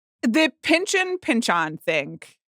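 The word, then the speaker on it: Pynchon: sure virtual and Thomas Pinchin was like it's pinchon actually.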